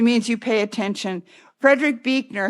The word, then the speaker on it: Buechner: Frederick Buechner, who is spelled B-U-E-C-H, not B-E-E, but it's pronounced Buechner.